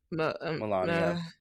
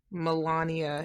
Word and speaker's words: Melania: was saying but uh how do you say her name m Melania Melania it doesn't look like that's how it's pronounced that's why I struggle